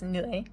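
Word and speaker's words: เหนื่อย: The other one is nui. Nui is just tired, like you're tired.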